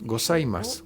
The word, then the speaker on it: gozaimasu: Para los demás que no lo están viendo y que lo están escuchando, piensen que la palabra gozaimasu se escribe con Z entre medios, gozaimasu.